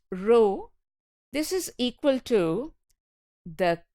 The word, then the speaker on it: rho: distributions correlation coefficient Rho this is a Greek letter it is pronounced Rho this is equal to